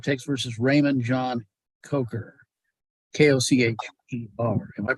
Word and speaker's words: Coker: Kocher. Am I pronouncing that correct?